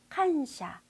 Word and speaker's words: 感謝: 칸샤, 칸샤. 이 칸샤가 바로 한자로 보시면 감사예요. 우리 감사합니다 할 때 감사 한자를 칸샤라고 발음하게 됩니다.